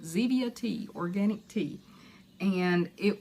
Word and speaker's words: Zevia: and I guess it's pronounced Zevia like Stevia but Zevia tea organic tea and